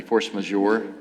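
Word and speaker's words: force majeure: So the force and I'm going to not pronounce this correctly. Force majour.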